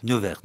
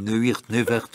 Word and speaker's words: Neuwirth: Neuwirth. Oui, moi je prononce. Moi je le prononce comme ça, mais je à l'anglais. Je lis à la française, je dis Neuwirth, ok, d'accord.